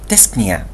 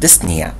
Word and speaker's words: dyspnea: البي شوية توقف عليها توقيفة خفيفة. فكي تنطق تنطق dyspnea. يعني الشفايف يدوبك يلمسن بعضهم بهدوء مش ما تقولش dyspnea. تنطق dyspnea. في نفس الوقت من في بعض الناس يخفوا البي لدرجة إنها لا تنطق فيقولوا dyspnea. لا هي مفروض البي لحد ما يوقف عليها بشكل هادئ أو ناعم خفيف وسريع.